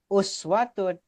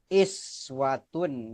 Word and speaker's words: أسوة: Kalimatnya dalam kalimatnya uswatun dibaca oleh Muammar ini iswatun ya.